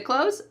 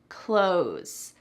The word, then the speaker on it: clothes: Clothes, clothes. Do you hear clothes? Nope. In American English, when we're speaking quickly, that TH is really cut out completely.